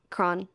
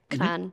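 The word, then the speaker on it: Kranj: I also really like Kron, Slovenia. Kran, mm-hmm. or I don't know. I always say it like Kron, slightly wrong. I don't know how to pronounce also in Slovenian.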